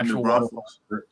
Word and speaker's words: New Braunfels: Is that how you pronounce that? Is that okay? Water park. Yeah, New Braunfels.